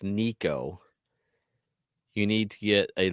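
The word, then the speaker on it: Nicko: Is it It's Nico. All right. This is hilarious. I just decided to look up how do you pronounce mcb brain?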